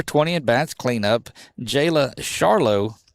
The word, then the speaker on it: Charlot: Jayla Charlo. Charlotte. C H A R L O T. Charlo the catcher. And And again, if I butcher these names, it's just because I'm from north of here.